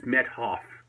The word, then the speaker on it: Methoff: You don't hear the H very well. It's kind of blended in with the T. So it's Methoff to spell it out.